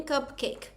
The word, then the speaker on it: cupcake: Não quer dizer que vai ter três sílabas, porque essa última vogal, o e ele é silencioso. A gente aprende isso em Phôix, né? A gente não lê esse e é só cupcake.